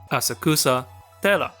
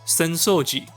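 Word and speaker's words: 浅草寺: Asakusa... Dera. Except, it's pronounced "Senso-ji".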